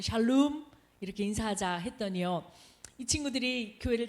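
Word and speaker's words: שלום: 인도하면서 아이들과 함께 샬롬 하고 인사하자고 했어요 정확한 발음은 샬롬 이렇게 인사하자 했더니요이 친구들이 교회를 다니는 친구가 있겠으나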